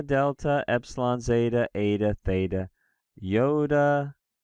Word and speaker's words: iota: This yoda is, in fact, a vowel. It is pronounced either like the E and meet E or like the I and sit.